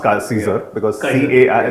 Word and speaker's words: Caesar: Caesar because that's how I first used to pronounce Caesar because CA I said Kaiser and they said no no it's Caesar but